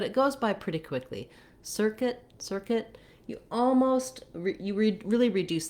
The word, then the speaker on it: circuit: In circuit, kit, kit, you can hear how you can almost even use a schwa there, an sound, circuit, because it's so short. It's a reduced vowel.